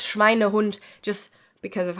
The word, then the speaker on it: Schweinehund: Now, as it says on the thumbnail, I want you to take extra care not to pronounce this Schweinhund, because that doesn't exist. It's Schweinehund, just because of how we smush together compound words.